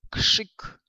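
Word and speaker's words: krzyk: Но есть еще такой момент, когда РЗ будет стоять у нас после глухих, они будут на него влиять, да, и РЗ, соответственно, будет оглушиваться и произноситься как ш. Например, да, вот слово крик прочитаем как кшик, кшик.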